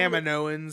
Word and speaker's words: Kaminoans: They were I think totally, Kaminoans is how yeah, it's pronounced too.